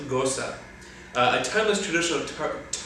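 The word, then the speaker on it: Gose: Meighan tradition okay so he sends down that long so it's pronounced Gosa a timeless tradition of department part goes up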